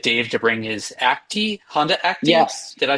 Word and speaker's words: Honda Acti: we'll get Dave to bring his Acti Honda Acti.